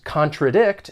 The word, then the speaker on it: contradict: When pronouncing this verb, it has three syllables and the stress is on that third syllable.